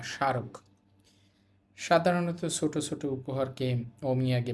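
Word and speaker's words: そう: এরপরের শব্দ হচ্ছে সৌম। কিন্তু এখানে উটা উচ্চারণ হবে না। কেন? আমরা জানি ও ধ্বনির পর উ থাকলে উচ্চারণ হয় না।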